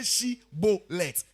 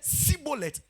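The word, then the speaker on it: Shibboleth: They said, all right, say Shibolet. Say it. Say Shibolet. If he said Sibolet, say she.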